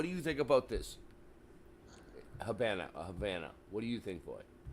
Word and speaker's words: Havana: So why is it that I can, like, you can't say, oh, in Spanish it's La Habana and in English it's Havana.